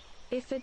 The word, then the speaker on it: Iphigenia: Yes, now I'm going to quickly look up how to pronounce that name, so Sun doesn't stab me. Let's see. Iphigenia.